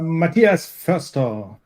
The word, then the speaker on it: Matthias Forster: Matthias Forster.